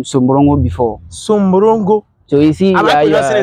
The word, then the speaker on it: Sumbrungu: Sumbrungu. So you see, am I pronouncing it well? Yes, that is it, Sumbrungu.